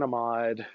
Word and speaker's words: amide: and say a mod alkane amid or i'll can amide if you're British I can't omit yeah can amide imide amid tomato tomahto however you want to pronounce that make sure you